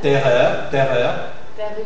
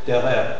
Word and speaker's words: terreur: on avait dit que la lettre E suivie des doubles consonnes, c'est E fermé. Mais si c'est le R, alors c'est ouvert. Exemple. Terreur. Perruche. Hein, c'est suivi de double R, alors c'est ouvert. Terreur, perruche.